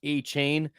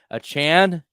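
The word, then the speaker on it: Achane: to pronounce that correctly he asked us to not call him a chain a Chan Devon a Chan so there we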